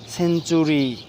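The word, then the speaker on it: century: rule শিখলাম তিনটা rule সর্বশেষ রুল হচ্ছে শব্দে যদি টি থাকে টি এর পরে যদি ইউ থাকে ইউ এর উচ্চারণ টি এর উচ্চারণ চ এর মত হবে দেন হচ্ছে কি সেঞ্চুরি সেঞ্চুরি সেঞ্চুরি টি ইউ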